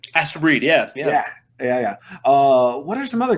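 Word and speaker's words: Astebreed: Asta Breed, right? Astro Breed, yeah.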